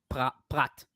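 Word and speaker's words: פרת: Well, the the word that is used, how we say the Euphrates is Prat, the river of Prat, Nahar Prat, which is Yeah, so but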